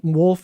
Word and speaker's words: Wolff: find w-r-i-c-k yeah yep wolf of a double f that's right so the the front w is silent and the back f is silent my name is encapsulated